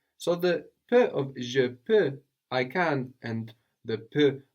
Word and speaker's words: peux: I can or I am able in French is je peux. Je peux. And this peux is spelled P-E-U-X. We have that X, that silent X on the end there.